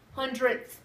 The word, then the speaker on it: hundredths: so this is our pennies so we need hundred this is where tens this is worth hundred with a th hundredths is how you say it 100.